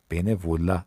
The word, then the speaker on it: bénévolat: bénévolat تیش هم تلفظ نمیشه.